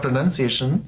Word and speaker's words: pronunciation: clearly and um it's not linked to pronoun which is where the confusion comes from yes and what